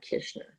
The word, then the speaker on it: Kishner: wrong but it's kishner so no worries people do it all the time it's i always say wish dish fish kish makes it easy oh there you go